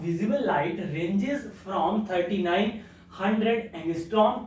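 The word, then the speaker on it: ångström: ANG इसकी definition क्या, sorry spelling क्या होती है, ANGSTROM, ठीक है, इसकी स्पेलिंग होती है एंगस्ट्रॉम की, इसको हम क्या पढ़ते हैं, एंगस्ट्रॉम।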